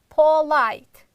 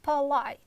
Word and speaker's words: polite: a sound let's say examples most students pronounce it like Paul light it's wrong you should pronounce like polite a light you see a sound not o sound but light again the first syllable is unstressed therefore we are reducing it but light next